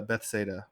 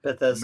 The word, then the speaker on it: Bethesda: need to go to Bethsaida. Is that how you pronounce it? Bethesda. Maryland? Bethesda. Bethsaida. Bethesda. Sorry, I mispronounced it.